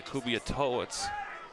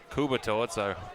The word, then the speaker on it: Kubiatowicz: And the right-footed kick bouncing high, played out by Kubiatowicz. Kubiatowicz, rather, as I've been saying his name wrong all night long, as it comes all the way back out now for Lovegreen for the Cadets.